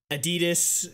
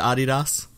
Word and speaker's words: Adidas: You don't pronounce it Adidas. No, it's Adidas. No, unless you're like really German. Like only Germans pronounce it Adidas. Like theoretically, it is supposed to be Adidas because I was gonna say that's the correct pronunciation. Yeah, because it's named after Adi Dassler, but most people just say Adidas.